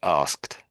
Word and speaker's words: asked: Asked. That's it. Yeah, sort of a T sound on the end, isn't it?